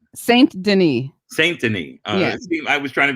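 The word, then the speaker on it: Saint-Denis: Denis, but Saint Denis sounds good to me. Oh, how do you say it? Saint Denis. Saint Denis.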